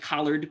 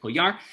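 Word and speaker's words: Collard: andre m koyar c-o-l-l-a-r-d it looks like collared but i think in french they pronounce it polyar it's published by harper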